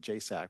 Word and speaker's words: JSAC: So there is a subcommittee under the county superintendents called JSAC, even though that's the acronym and we pronounce it JSAC, which is kind of incomprehensible, but this is the